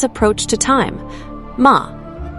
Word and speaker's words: ma: Ma, pronounced ma, written with a single elegant character depicting a gate through which moonlight passes.